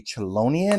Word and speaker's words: Chelonian: is going to be chelonian I believe it's going to be how it's pronounced now this one that